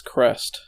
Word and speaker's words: Crest: according to the according to the wikipedia it's crest cool that's like a common thing you're going